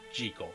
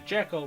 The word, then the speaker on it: Jekyll: based off of it is supposed to be pronounced G co not Jekyll later film adaptation would change the pronunciation to Jekyll which is what I'm used to and believe